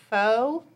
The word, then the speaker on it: faux: We are loving our brand new stencil, our faux, F-A-U-X. I couldn't spell that for the longest time in my life.